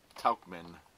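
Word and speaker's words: Tauchman: gonna be geo Rochelle ax and then Mike Tuchman that's how you pronounce his name yeah that's the guy I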